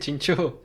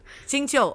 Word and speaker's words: Xingqiu: Yeah, how would you pronounce his name? I just did, Xingqiu. Xingqiu, okay, good.